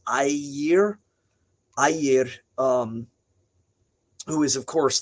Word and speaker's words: Ymir: A lot of people say Ygir, but remember that G is a soft GY sound, so it's Ymir.